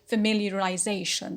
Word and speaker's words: familiarization: root is familiar familiar so me becomes a secondary stress in this word so we say familiarization so the secondary is